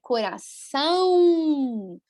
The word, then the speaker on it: coração: Sempre que vocês encontram o tio, tampem o nariz, tá? Que é nasal, percebam, né? Coração, tampa o nariz, que é bem assim a pronúncia, ok?